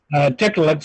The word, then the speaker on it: Tiktaalik: What is the falsification process you went through to falsify whether or not Tiktaaliks are evolved from fish? It's pronounced Tiktaalik.